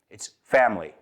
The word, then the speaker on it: family: It's not family. It's family. Right? It's not "di-a-mond". It's diamond. So, a lot of times you'll find that we eat that middle syllable over there.